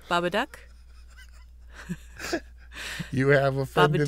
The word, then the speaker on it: Babadook: the living dead did i say it wrong bob a duck you have a friend to do the honor of this beautiful woman said the duck the baba duck the baba duck uh you can see check